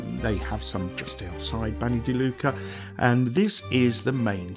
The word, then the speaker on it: Bagni di Lucca: this video is all about a place called Banny deuca I'll spell that for you it's b a g n i new word d d i new word Luca as in Luca l u CCA Banny Duca and it literally translates to the BS of